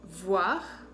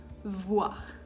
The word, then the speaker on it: voir: Entonces, para que lo puedan pronunciar, cuando pronuncio la B, mis labios se tocan, boire. Cuando pronuncio la V, mis labios no se tocan, sino los dientes superior van a tocar el labio inferior, ¿ok? Voir, voir.